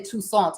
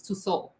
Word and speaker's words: Tussauds: I always say Tussauds. It's Tussauds. Yeah, the T is silent in French.